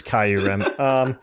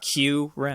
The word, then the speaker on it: Kyurem: it's Kyurem. And so it's Fight me, Kyurem! Fight me, Kyurem. Think of it like this: Ice Cube, Q-Rem.